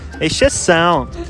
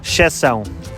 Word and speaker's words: exceção: In Portugal we would say exceção. Don't pronounce the first E? No, Elena, in Portugal we rarely pronounce the initial E when it is followed by an X or an S and then another consonant.